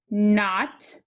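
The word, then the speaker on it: knot: see this card say not remember the k is the ghost letter we don't say it not okay for our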